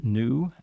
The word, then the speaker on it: NXU: we had visitors from new nxu the the x is silent and the x is actually an infinity symbol I found out oh okay but uh it is pronounced new and uh these are